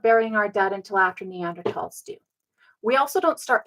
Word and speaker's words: Neanderthal: things is because when we meet up with neander tals they develop those thought processes and we develop